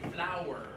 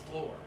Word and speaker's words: flour: Yeah, so everybody say flour. Flour. It's gotta be 2 syllables. You guys keep saying floor. Yeah. It's okay, it's okay. I know what you mean in context. Floor, flower. It's just like a plant.